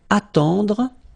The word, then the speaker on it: attendre: Then, attendre. Attendre. Remember, final you don't insist on it, it just gives you the possibility to pronounce the dr, dr. Okay, so attendre, attendre.